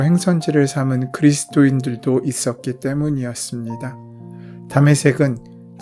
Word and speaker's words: 다메섹: 다메섹은 지금의 시리아의 수도인 다마스커스의 히브리식 발음입니다.